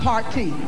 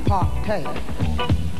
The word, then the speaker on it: partay: Not party, partay. Party. Partay. We understand now?